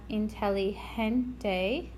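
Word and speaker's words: inteligente: and then we have intelligente again this G is going to have an H sound and this one's pretty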